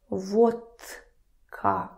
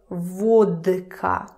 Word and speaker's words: водка: I'm not saying vodka. Vodka. Because it's difficult. Who needs that? Vodka. So, the rule is when the voiced consonant is followed by one of these fellows, K, k, k, it becomes unvoiced as well, just because it's easier.